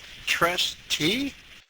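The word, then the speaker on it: Triste: I got it written in front of me, but trustee?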